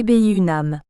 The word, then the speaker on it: Funan: Funan, prononciation moderne des deux sinogrammes qui le transcrivent, devait autrefois, et plus spécifiquement à l'époque des Tang, soit grosso modo les Vié 9e siècle, être prononcé Bi-Unam.